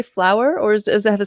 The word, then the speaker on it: Floower: does it have a special pronunciation it has two o's yeah uh we tend to call it flower but it sounds more like flavor but the flower is more like kind of french that way um anyway so great